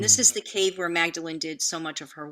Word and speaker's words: Magdalene: maybe i'm pretty mispronouncing is this magdalene or magdalena well it's mary magdalene okay mary magdalene flower